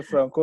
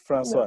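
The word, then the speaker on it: François: But sometimes you say Franco it's Francois. No. Okay, so yeah, Francois in French.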